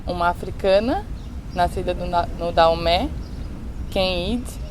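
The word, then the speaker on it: Kehinde: africana, nascida no Daomé, Kenid. Ana Maria Gonçalves diz Kenidé. Tem uma amiga que é nigeriana e diz que tem uma prima chamada Kendi. Então é engraçado como essa maneira de pronunciar o nome da narradora vai variando, dependendo do leitor.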